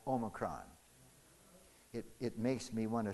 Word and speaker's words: Omicron: And the one that looks like a W, we pronounce O. O. So what should this variation be called? Omicron.